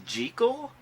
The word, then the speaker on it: Jekyll: you know that the proper pronunciation is jekyll that's what the author of the novel insisted robert lewis stevenson but only the first